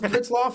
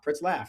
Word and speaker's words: Pritzlaff: I forever I did I always thought it was Pritsloff. Everybody I talked to always says Pritsloff, so it's it's like laugh, ha ha ha. Pritslaff. And that's actually how it's spelled.